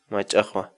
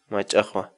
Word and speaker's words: mach'aqwa: series videos where we teach you how to pronounce certain words in Quechua so our word of the day for today is my Tahoe my Tahoe my Tahoe in English the Quechua word right aha mean